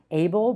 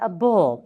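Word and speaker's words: -able: But the suffixes are even more difficult because it is not able but a bull.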